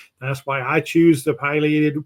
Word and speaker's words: pileated: The bird is named after the red crest, which is known as the pileum scientifically. That's why I choose the pileated pronunciation. If you say pileated, that's perfectly okay too.